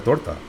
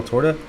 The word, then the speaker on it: torta: A Taco Bell tora. Tortra. My wife will kill me for saying that without without pronouncing it properly. She's probably sitting there rolling her eyes at me right now. Torta.